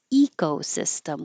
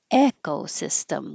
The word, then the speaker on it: ecosystem: And this you you'll hear people say both ways, ecosystem with an e or echosystem with an e.